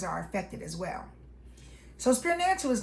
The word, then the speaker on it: Spirnancial: Spear-nancial. It's pronounced S P E A R, like a spear, then nancial at the end of financial.